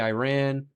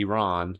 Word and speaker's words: Iran: Now 2022, Russia, 2023 Iran, or 2025, it's actually Iran, not Iran. I guess I've been saying it wrong.